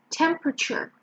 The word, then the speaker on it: temperature: Okay, so it's temperature. Temperature. And the stress is on the first syllable.